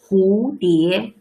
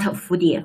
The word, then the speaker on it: 蝴蝶: Not 蝴蝶, it's 蝴蝶, it's H, not 蝴蝶. 蝴蝶. Please look at the pinyin. 葫芦, 蝴蝶. They all start from this letter. 蝴蝶, not 蝴蝶.